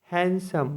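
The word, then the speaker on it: handsome: word देख लेते हैं एच ए एन डी एस ओ एम ई हैंडसम मतलब मनोहर हम लोग इसको बोलते हैं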